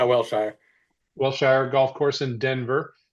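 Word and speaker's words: Wellshire: Um, so, Cam Crabtree, fellow speed toad, team toad, professional PGA teacher out of Welshire. Is that how you say it? Yeah, Wilshire.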